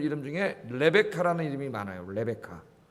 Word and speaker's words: 레베카: 레베카. 그 레베카가 리브가예요. 영어로 발음하면 레베카예요. 레베카.